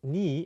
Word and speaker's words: 네: So basically, 네 is sometimes pronounced ni in spoken Korean because it sounds very similar to 내, meaning my.